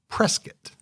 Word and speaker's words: Prescott: by various people that it's actually pronounced Prescott. Prescott? I did not know that, but I'm going to try to remember it. As in like a biscuit. Kinda. Yeah. Or Triscuit.